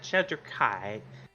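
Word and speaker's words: Shadar-kai: you're you're an elephant kind you said sad Shader Kai right I believe if I'm pronouncing that correctly yes that's correct uh you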